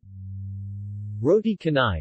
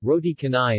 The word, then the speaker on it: roti canai: roti canai pronunciation tonigh also known as rody cane cane or